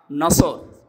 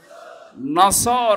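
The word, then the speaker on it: نصر: নিয়েন আমরা তাফসীরুল কোরআন মাহফিলে প্রবেশ করছি সূরা নসর কোন সূরা নসর বলেন বলেন নাসর নসর না নাসর নাসর নুন সোয়াদ র নাসরুন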